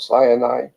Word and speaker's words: Sinai: his people at Mount Sinai but Mount Sinai is actually sin AI and now it's interesting